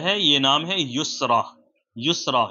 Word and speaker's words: یسرا: یہ نام ہے یسرا۔ یسرا، یا سین، را اور یا کے اوپر پھر کھڑا زبر لگ کر کے یسرا بنے گا۔ انگلش میں اس کی